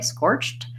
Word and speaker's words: scorched: the word scorched and it's supposed to be pronounced with the succinct T sound at the end so I just said it that way scorched that's because the letters edie say T when when they're after a word with a CH so